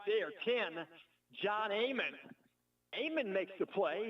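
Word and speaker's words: Aiman: Amon makes the play. His last name is spelled A-I-M-A-N.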